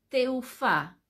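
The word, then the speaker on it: תעופה: Cómo se dice aeropuerto se dice de teufa escuchen bien ese de Silvia de de domingo e de elefantes de y luego teufa conté te de Tomás e u f de Fabián a de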